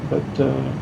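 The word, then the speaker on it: Bex: right, and we will be ready for the final. This town is called B-E-X. Okay. We don't pronounce the X.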